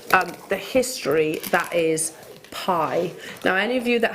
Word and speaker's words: bi: pronounced spelt b i pronounced pie as in something that you would eat so pie is a